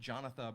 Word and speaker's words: Jonatha: Jonatha Brooke, Jonatha spelled like Jonathan, but without the N.